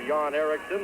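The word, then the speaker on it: Eriksson: n and the other Yan Erikson is er x e r k SS o n but uh pronounced exactly the same two yon ericon of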